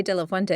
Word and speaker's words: de la Fuente: I've only had it for about a year, but it rhymes, de la Fuente, it rhymes with my first name. So sometimes when people are like, how do you pronounce that? I'm like, just rhyme it.